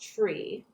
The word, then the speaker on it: three: a few exceptions uh the number three is pronounced tree the number five is